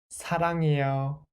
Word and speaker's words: 사랑해요: First syllable. 사. 사. And then second syllable without the final consonant. La. And the sound of the final consonant is right? Because this circle-shaped consonant is placed in the final consonant. So, la, 랑, 랑. And third syllable block, 해, 해. And then the last syllable block, 유. 사랑, 해, 유. 사랑해요.